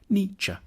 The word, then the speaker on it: Nietzsche: The first bit should sound like ni, the second like ch, Nietzsche.